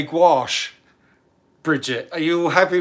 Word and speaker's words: gouache: It's gouache, wash with a G. Yeah, Heather says gouache. Yeah, gouache is better.